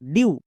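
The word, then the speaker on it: dew: ডি ই ডব্লু, ডিউ। এম ই ডব্লু, মিউ। সো ই ডব্লু এর জন্য আমরা you sound করব। যেমন ফিউ, ডিউ, মিউ।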